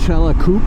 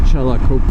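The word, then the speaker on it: Xcalacoop: was staying in was Chelakup, I believe. It starts with an X, but the X in the Mayan language is pronounced Ch. So I think it's Chelakup.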